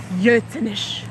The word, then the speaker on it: Gürzenich: you and me - there are certain words in Cologne that are written with a ‘G’ but pronounced with a ‘Y’. But who or what is ‘Gürzenich’?